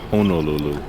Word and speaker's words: Honolulu: we're going to bed it's actually pronounced Honolulu Honolulu cheers well good morning